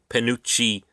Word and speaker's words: Panucci: Panucci Fudge. And it gave me the phonetic spelling. It says I'm pronouncing that right.